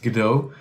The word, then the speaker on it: Godot: It's usually pronounced Godot. Godot is an interesting video game engine, and it's